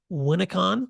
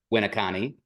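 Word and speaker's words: Winneconne: principal and then director of learning for the Winnacon. Is that how you pronounce it? G Winnani.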